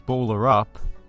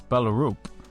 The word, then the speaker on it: Ballerup: If you pronounce it Ballerup, it sounds like a small town in rural Australia. But I believe it's Ballerup, which is the name of a town on the outskirts of the city, in which the Super Arena is located.